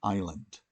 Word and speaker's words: island: This is an island. How do you spell island? Let's look at the answer. Hopefully you got ISLAND, island. A silent S there towards the start.